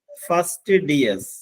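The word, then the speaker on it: fastidious: ടി ഐ ഡി ഐ ഓ യു എസ് ഇതിന്റെ ഉച്ചാരണം നോക്കാം first D S first DS എന്ന് പറഞ്ഞാൽ തൃപ്തിപ്പെടുത്താൻ പ്രയാസമുള്ള തൃപ്തിപ്പെടുത്താൻ പ്രയാസമുള്ള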